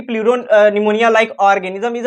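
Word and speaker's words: pneumonia: प्लीरो निमोनिया like organism. PPLO का क्या full form होता है? Pleuro निमोनिया like organism. तो यहां पे पी साइलेंट है। निमोनिया में पी साइलेंट होता है।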